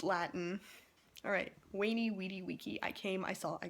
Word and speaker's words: veni, vidi, vici: I made a whole, like, minute-and-a-half long video about this, because I am ticked off at people saying VENI, VIDI, VICI, because this isn't freaking Italian. It's Latin. Alright, VENI, VIDI, VICI.